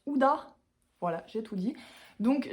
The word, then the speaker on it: Huda: H, qui finit par un A, qui se prononce Huda.